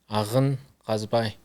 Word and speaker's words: Agin Kazbai: So what is the correct pronunciation of your real name? Agin Kazbai.